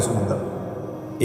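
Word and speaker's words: Psalm: लिखने में पी एस ए एल एम एस लिखते हैं। मगर पी और एल दोनों साइलेंट होते हैं। साम ये मुनाजात का चैप्टर है तरात में।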